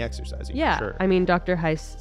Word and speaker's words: Heisz: book it's written by dr jennifer heiss rhymes with nice spelled h-e-i-s-zed oh we've had her on the podcast before we have that was way back on episode 15. what does dr jennifer hai say about brain and